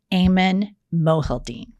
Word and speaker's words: Aiman Mohyeldin: Let's welcome to I've Had It, Aiman Mohyeldin. Did I pronounce it correctly?